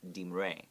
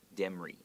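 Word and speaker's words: Demre: But I looked it up and it's supposedly pronounced Dimre. Dimre. Okay, but if you read that as an American, we probably would say Demri. Dimre. Demri or something, but it's Dimre.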